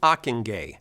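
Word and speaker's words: Ockenga: in either strand enter harold akingay rhymes with mockingjay achenge was a boston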